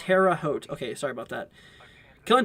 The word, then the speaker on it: Terre Haute: that out sorry about that goblin says it's pronounced terre haute okay sorry about that killing time says road